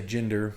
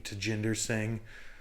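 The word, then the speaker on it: Tjinder Singh: want to just say Ginder but I listened to him say it and he did pronounce the T at the beginning to Jinder sing was born and raised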